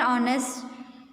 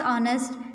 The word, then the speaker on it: honest: Second, Hemant is an honest man. Here honest, the spelling is starting with a consonant, but when we pronounce honest, it is sounding as if it is a vowel.